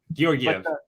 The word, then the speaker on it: Georgiev: I want to say it's Georgiev now, almost. Georgiev? No, I know it's a hard G to get it popped off. It's Georg whatever. Georgiev.